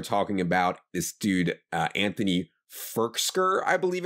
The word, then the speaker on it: Firkser: It's Firkser. Okay, sorry. Not Firkser. Firkser. Firkser.